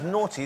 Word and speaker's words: Naughtie: I thought it was James Naughty. Is it actually James Naughtie? It's pronounced Naughtie, but it's spelt naughty. Naughty, isn't it? It's not knockety. It's like knockety knock.